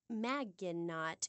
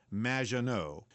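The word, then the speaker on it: Maggot: in the future there will be robots Claude magot welcome to the show thanks Amy however you have mispronounced my name it's m which rhymes with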